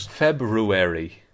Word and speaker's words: February: I don't do any R in the February.